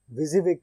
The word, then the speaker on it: WYSIWYG: विजिविग का मतलब इसको WYSIWYG जो स्पेलिंग लिखी है इसको विजिविग पढ़ते हैं, और इसका मतलब है व्हाट यू सी।